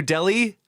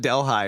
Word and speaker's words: Delhi: So like New Delhi, has a totally inappropriate H in it. That if it was not in there, I would say it correctly.